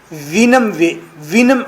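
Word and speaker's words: Houyhnhnm: Lips को round करना है आपने, वो की आवाज़ निकालनी है।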